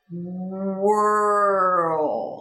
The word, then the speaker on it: squirrel: So we have skwa. The W shifts into the R. Squirrel. And the R shifts into the L, adding that mini O that helps us.